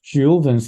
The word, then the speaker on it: Thiaoubans: But what's most striking part of the book is that the Thiaoubans, pronounced as Jehovah's in French, are actually the Jehovah's in the Bible, that the people who have been watching us and guiding Wow.